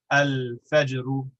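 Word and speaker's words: الفجر: So al-fajr, fa is pronounced with the lips. It's too far away from the place where lam is pronounced, and so we pronounce both of them distinctly. Al-fajru.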